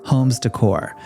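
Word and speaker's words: Hommes Decor: It's called Homes Decor, spelled with 2 M's. Yeah, like home, but make it French and fabulous.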